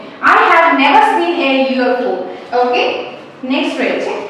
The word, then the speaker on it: UFO: UFO, অর্থাৎ এই যে এটা উচ্চারণ কি রকম হচ্ছে? এরকম হয়ে যাচ্ছে, এরকম হয়ে যাচ্ছে, অর্থাৎ ওয়াই এর উচ্চারণটা চলে আসছে। এমনিতে ইউ তো আছে ভাওয়েল অ্যালফাবেট, কিন্তু সাউন্ডটা কিন্তু আর ভাওয়েলের মতো হচ্ছে না। সাউন্ডটা কি রকম হচ্ছে? সাউন্ডটা কনসোনেন্টের মতো হচ্ছে।